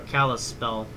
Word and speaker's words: Kalispell: we can get to kill a spell faster or Kalispell I it's pronounced so the past 45 minutes